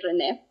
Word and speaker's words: Renee: The correct pronunciation would be Renee.